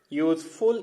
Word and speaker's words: useful: See, because useful is pronounced with the consonant sound Y.